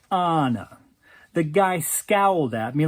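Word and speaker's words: Ana: I walked up to this poor girl and said, people who know anything know that it's pronounced Anna.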